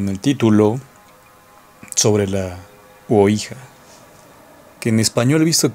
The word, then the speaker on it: Ouija: Pero aquí en México, al menos en México, no sé si en toda América es Ouija, con la O. Aunque algunos también en otras regiones aquí en México la pronuncian mal, y por supuesto del tablero lo llaman Cuija. En fin, bueno, es un tablero.